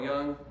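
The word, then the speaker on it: Jung: Society uh the psychologist Carl Young you've probably heard of Carl Young is spelled j-u-n-g called this the collective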